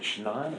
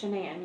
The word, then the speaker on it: Shanann: So, I understand that you are pretty good friends with Is it Shannan or Shanan? It's Shanan. You pronounce it like shenanigans.